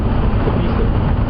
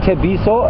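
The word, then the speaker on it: Tshepiso: Tebiso. So his full name is Tebiso, and that would be spelled? T-S-H-E-P-I-S-O. Say it again. T-S-H-E-P-I-S-O. T-S-H-E-P-I-S-O. Tebiso.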